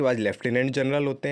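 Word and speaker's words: Lieutenant: बेटा इस स्पेलिंग को ध्यान रखिएगा, 9 नंबर पर जो स्पेलिंग है, ल्यूटिनेंट लिखते हैं, बोलते लेफ्टिनेंट है, लेकिन आपको ये चीज़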